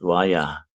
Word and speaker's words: Waya: Oh, skilly is short, yeah, from wolf way pronounced Waya. Waya, Waha, Waha, yeah.